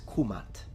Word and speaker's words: Kemet: to be precise then the correct and most likely pronunciation in ancient Egyptian specifically in classical Egyptian is kumat kumatu nominative kumata accusative and kumati oblique genitive in correct conjecture with no